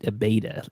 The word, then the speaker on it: Abeyta: Abeyta, like a alpha beta.